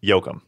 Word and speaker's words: Yoakum: It's James Yoakum. Yep. Yoakum. Like Dwight Yoakam?